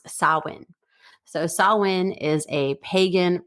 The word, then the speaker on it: Samhain: Okay, so this is a Gaelic word and it's pronounced Samhain, but it's spelled Samhain, Samhain, but it's pronounced Samhain.